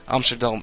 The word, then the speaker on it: Amsterdam: I should just stay with the Dutch pronunciations of these cities, since I can do them. Not try and pronounce them in English, it's weird. Amsterdam and Rotterdam. That's the way.